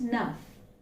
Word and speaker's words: enough: like this it's just enough okay we generally do not utter the first syllable okay it's almost like enough okay this is only